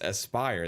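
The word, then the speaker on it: Aspyr: For me, it was Aspire, or it was Aspire or Asper. I didn't know which one, but he says it's Aspire. There's the proper pronunciation of it.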